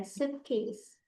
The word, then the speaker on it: suitcase: I-nya di silent aja. Suitcase.